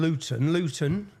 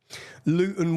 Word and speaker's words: Luton: And so anyone, if you don't understand Luton, see, I pronounced my T there. We don't pronounce our T's.